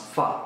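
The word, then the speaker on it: phở: one of the favorite dishes I had was fa um the Vietnamese It's oddly enough it's spelled p h o but it's actually pronounced fa and specifically fa which is the beef variety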